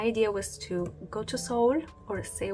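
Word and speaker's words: Seoul: was to go to Soul or se s s whatever you want to call it I discovered that the right pronunciation is soul uh because I started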